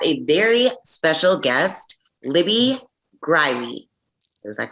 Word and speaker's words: Greiwe: At first, I'm glad you put the pronunciation in your email because I was thinking in my head, Greiwe. So it's not, it's Greiwe.